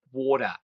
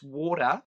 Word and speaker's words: water: to say it in the Australian way which is to put a D in there and water. It's water going around the corner to have a glass of water.